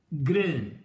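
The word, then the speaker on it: ghrelin: أما الإبسيلون سيلز اللي هي قلنا إبسيلون ده الحرف الخامس في الأبجدية اليونانية، دول أقل من 1% وبتطلع هرمون اسمه جرين. الاتش ما تتنطقش.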